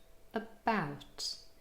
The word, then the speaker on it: about: But it could also be in the first syllable, as in the word about. Here, the first syllable contains only a schwa and it's unstressed. About.